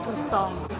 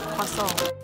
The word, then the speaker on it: croissant: Karena sebelumnya tuh gue mau panggil ini croissant. Setelah bertanya sama penduduk lokal dan denger-denger nih mbak-mbak yang tadi, ini tuh disebutnya croissant. Walaupun kuasongnya kuasong McD, tapi ya udah, mau gimana lagi?